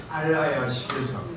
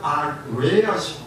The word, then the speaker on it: 알라야식: 근데 우리 마음은 모든 경험 내용을 제8식 알라야식에서, 근데 한역에서는 아레야식 그랬는데 버머 발음으로는 알라야식 그래요.